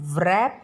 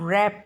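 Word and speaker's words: wrap: फिर रैप, W silent है, तो हम व्रैप नहीं बोलेंगे, हम रैप बोलेंगे, राइट।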